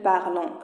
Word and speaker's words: parlent: وهذه راه ما تنطقوش ان تي كنطقو غير او. كنقولوش il parlent كنقولوا il parle.